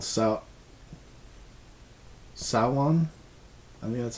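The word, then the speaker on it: Samhain: of m h e i n but it's pronounced saon yeah so or like the have you ever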